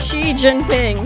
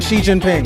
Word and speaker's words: Xi Jinping: That's one of the syllables. I don't know how to say this. Zing. Jai? Xi Jinping. Xi Jinping.